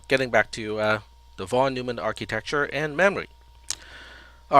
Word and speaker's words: von Neumann: uh von neumann neumann i was corrected several times about my pronunciation of of this particular last name is i think it's an austrian last name and i think it's supposed to be von neumann not von neumann um oh that's not